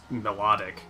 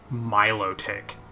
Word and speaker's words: Milotic: never noticed those before that's why I thought it was pronounced melodic because it like kind of like melodic not Milo tick Milotic is like a